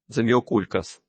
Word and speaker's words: Заміокулькас: під важко вимовляється назвою зміокулькас наголос на букві у воно абсолютно невибаглива в